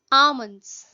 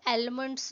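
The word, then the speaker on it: almond: की अनुमति नहीं है अमन अमन इसमें जो ल है ना यह साइलेंट है हम इसको अलमेंड्स नहीं बोलते हैं बालों के लिए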